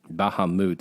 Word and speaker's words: Bahamut: ago but bahamut or bahamut is how you pronounce it in arabic is from mythology well